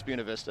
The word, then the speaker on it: Buena Vista: Yeah, that's how you pronounce Buena Vista.